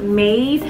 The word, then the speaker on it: Mayde: beauty supply store and the brand is called made i was pronouncing one of the other wigs in one